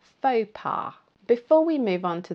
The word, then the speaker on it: faux pas: So it's pronounced faux pas, faux pas.